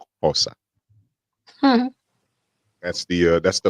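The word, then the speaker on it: Xhosa: to learn zulin OA actually I have to pronounce it with that click spelled with an X OA that's the uh that's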